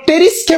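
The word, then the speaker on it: Pteris: বলতো পামফ আবার আমরা টেরিসকে বলে থাকি টেরিসের বানানটা কিন্তু এরকম পিটি আরই আমলে সফ কেন আমরা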